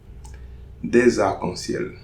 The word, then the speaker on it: des arcs-en-ciel: Des arcs-en-ciel. Des arcs-en-ciel. Okay, so no liaison between arc and un.